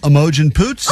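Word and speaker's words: Imogen Poots: You could play Image and Poots is her name. Oh, no. You got it right. No, no, no, no. I would play this. Emojent Poots. That's what I would play. The correct pronunciation.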